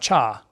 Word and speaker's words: 차: This is a single syllable: For letters, we have the "ch" from church and "ah" from father. Put them together, and you have 차 (cha).